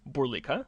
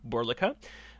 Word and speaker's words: Burlika: As you've already heard, the accent is on the second syllable, so it's Burlika, not Burlika.